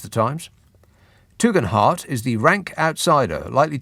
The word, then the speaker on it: Tugendhat: Tom Tugendhat, that's how he pronounces it. It looks to me like Tom Tugendhat, but he says heart.